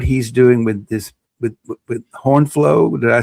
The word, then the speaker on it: HornFlow: book and what he's doing with this with HornFlow. Did I say it correctly? HornFlow.